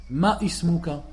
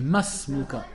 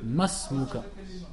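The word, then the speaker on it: ما اسمك: Et de là tu entends souvent les gens qui font l'erreur et ils disent ma ismuka. On dit masmuka.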